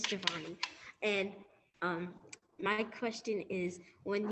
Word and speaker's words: Javonee: Hi, Jabini. Please feel free to ask your question, and I'm sorry if I pronounced your name incorrectly. Yeah, it's Giovanni.